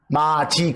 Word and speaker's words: 맏이: 여러분, 제일 큰 아들이나 제일 큰 딸을 마의 디귿받침, 그리고 이스라엘 할 때 마다고 발음은 뭐라고 해요? 마지 그렇죠.